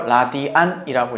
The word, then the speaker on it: 라디안: RAT 해서 라디안이라고 읽어요.